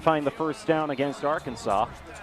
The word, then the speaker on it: Arkansas: Arkansas or our Kansas as it's spelled is still looking for a way to stop it in its tracks.